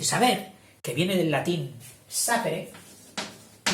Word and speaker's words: sapere: Dice, saber, que viene del latín sapere, yo lo pronuncio esdrújula, habrá quien lo pronuncie llana, sapere, posiblemente fuera sapere.